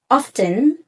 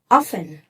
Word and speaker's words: often: speaking ပြောတဲ့အခါမှာအာပိုပြီးတော့ကို Nateဆန်ပို့နေတယ်။ပိုပြီးတော့ professionalချင်တယ်ဆိုရင်တော့ဟယ်လိုမင်္ဂလာပါ။ဒီအပေါ်ကစကားလုံးလေးကိုဘယ်လိုအသံထွက်ကြပါသလဲ။ Is it often or is it often ဖြေရတော့ Oxford Dictionary နဲ့